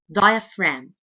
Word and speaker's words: diaphragm: called diaphragm diaphragm diaphragm and the G letter here is silent diaphragm the diaphragm is so